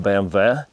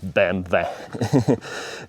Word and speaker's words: BMW: I mean, BAMV. Uh, that's how it's pronounced, BAMV.